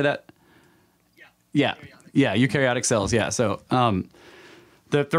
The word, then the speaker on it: eukaryotic: cells how do you say that yeah yeah eukaryotic cells yeah so um the request basically was